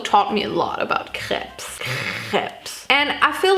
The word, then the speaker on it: crepes: feel so self-conscious about the way i pronounce craps crepes i'm just gonna say it the french way the original way now crepes maybe like